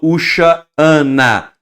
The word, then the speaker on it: Hoshana: eu não estou falando Ushana, não, o segundo A eu estou pronunciando de forma gutural, que é um E em aramaico, que ele é gutural, equivaleria ao Ain, ok?